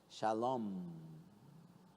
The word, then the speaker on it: shalom: Aí quando é M de três perninhas no final você não fala, é, por exemplo, shalom, é shalom, como se tivesse comendo algo gostoso.